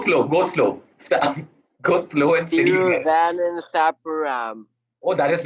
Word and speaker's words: Thiruvananthapuram: Thiruvananthapuram. Oh, that is not bad. It's actually Thiruvananthapuram if you say it fast. Try saying it fast. Oh. What? Try saying it fast. I can't talk that fast. Thiruvananthapuram.